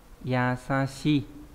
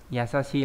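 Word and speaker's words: 易しい: Đọc là yasashi, đúng nhỉ? Yasashi là đơn giản, dễ dàng.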